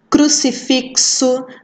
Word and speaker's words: crucifixo: né são dizer o x pode ter som de ks aqui acho que não tem nenhuma não mas a gente pode dar o exemplo a taxi crucifixo né som de ks e os x também com som de ch a ficha por exemplo